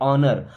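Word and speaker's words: honour: लिए दिस मीस यह इस ऑनर इसको होनर नहीं पढ़ते ऑनर ऑनर का मतलब होता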